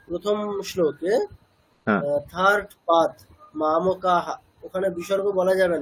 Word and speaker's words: मामकाः: আচ্ছা এখানে তাহলে কি করতে হবে, মামকা বিসর্গের পরে কি আছে, পকার আছে, হ্যাঁ ওই তাহলে জন্য বিসর্গের উচ্চারণটা কেমন হবে? ফ। ফ, তাই তো? হ্যাঁ তাহলে মাম কাফ, ঠিক আছে, মানে ফ হসন্ত, মানে এরকম বলবে না মাম কাফ ফ, এরকম না, মানে ফ অকার না, ফ হসন্ত, নিচে একটা হসন্ত আছে, সেইভাবে বলবে।